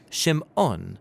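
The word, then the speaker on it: שִׁמְעוֹן: and she names him Simon or in Hebrew shim ohn because she says the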